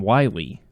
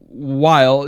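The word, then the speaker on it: Weil: In this one, it's Dr. Wile or Wheel. I like to call him Wily. Well, he's not. I think there's fan thought of it's some kind of incarnation of Dr. Wily, but it is Dr. Wile, W-E-I-L.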